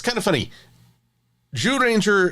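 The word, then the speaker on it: Zyuranger: it's kind of funny Jew Ranger is starts with the z-y-u but I swear it all comes together to sound like a j when it's pronounced in red in the original Japanese so apologies if I'm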